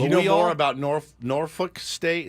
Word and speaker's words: Norfolk: don't know much about Norfolk State football but you know more about nor norfol State it's norfol I think they say norfol there's an L I know but they don't I don't think they